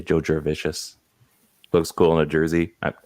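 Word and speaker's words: Jurevicius: He's so delicious, and it rhymes with that. Joe Juravicious.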